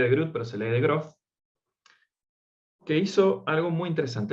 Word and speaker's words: de Groot: investigación que hizo un matemático, Adrián de Groot, se escribe de Groot, pero se lee de Groot, que hizo algo muy interesante.